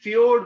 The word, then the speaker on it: फ्योर्ड: समुंदर के साथ मिला होगा तो हम कहेंगे ये फ्योर्ड बन गया, ठीक है? ये फ्योर्ड है, ये जे साइलेंट है इसमें, ये एक नॉर्वेजियन शब्द है, ठीक है?